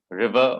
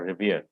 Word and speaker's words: revere: respect here what is the correct one river or revere second one okay other man other